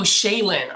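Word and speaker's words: Shailyn: Oh, Shaylin.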